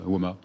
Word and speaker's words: WoMA: Vous étiez à la direction, au comité de direction, et vous avez créé WOMA il y a, on prononce WOMA, hein, c'est ça?